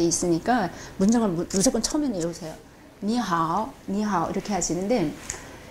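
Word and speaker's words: 你好: 근데 이거 하나는 설명할게요. 이게 이가 이 발음이 나는데 가끔은 으 발음이 날 수도 있어요. 요거 하나는 또 명확하게 아셔야지 돼요. 다른 거는 다 뭐 똑같은데 이만은 이 나올 때도 있고 으 나올 때가 있어요.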